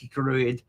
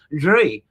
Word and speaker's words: Drui: us are familiar with an older one, which isn't pronounced much different, Drui, which is D-R-U-I. And that seems to be much more going into the ancient times, but it's not pronounced that much different, really, is it?